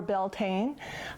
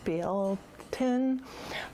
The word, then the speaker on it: Beltane: also may eve or beltane i'm not sure that i'm pronouncing it correctly i believe it's something like bill tin but anyway it's an